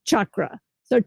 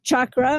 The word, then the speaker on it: chakra: pronounce the word because everyone's calling them chakras, and there's no such word as chakra in the English language or the Sanskrit language.